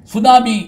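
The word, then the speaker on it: tsunami: கொஞ்ச நேரம் முழிச்சிருப்பீங்க என்ன சுனாமி அப்படின்னு ஒரு வார்த்தை அது என்ன மொழி தெரியுமா ஜப்பான் மொழி அது என்ன எழுத்துல ஆரம்பிக்கும் தெரியுமா டி அப்படின்னு ஆரம்பிக்கும் அது நம்ம சொல்ற படி பார்த்தா அதை உச்சரிக்க மாட்டோம் சைலென்ட் அப்படிம்போம் சரி சரி இந்த சுனாமிக்கு தமிழ்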